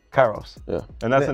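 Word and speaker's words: K8IROS: I don't want to say wrong oh I pronounce it Kairos Kairos yeah and that's the name of the brand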